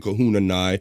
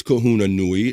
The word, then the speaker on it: Kahuna Nui: So yeah, Kahuna, you straightened me out because for whatever, I get caught up into verbal habits, and I was saying Kahuna Nai, but it's Kahuna Nui.